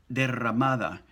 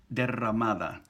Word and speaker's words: derramada: Now, the pronunciation tip for today is essentially, let's have another look at the double R and the single R. We have the word derramada, shed or spilled, like